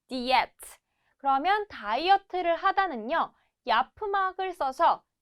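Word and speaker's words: diyet: 자, 비슷해요. 근데 발음은 diet라고 해요. diet.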